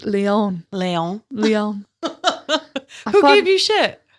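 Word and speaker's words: Lyon: thought I knew how to pronounce it, I pronounced wrong the entire episode. What was it? I said lion, but it's Leon.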